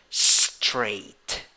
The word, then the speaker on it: straight: So when you write it, you use A and I. In the pronunciation, you have A with a hat. A with a hat is pronounced like A. In the writing, you have GHT. You spell it like that at the end. GHT. All of those 3 letters sound like T, just one sound. That is why you have 3 letters but 5 sounds only. Pronunciation, straight. Number 7, 4 letters, 3 sounds.